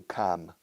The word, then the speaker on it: calm: Yo pronuncio la L, calm. My British friends and Irish friends say calm.